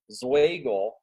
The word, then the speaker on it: Zweigel: It's a really complicated name, but the easiest way to pronounce it is it's Zweigel, which is kind of like bagel, but with a Z and a W.